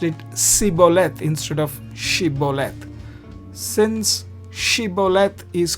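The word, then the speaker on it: שׂ: But if the dot is on the left, then you pronounce it like sic set sin.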